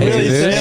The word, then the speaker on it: Jesus: Yeah, is that really how you say his name? Yeah, Jesus. It's not Jesus.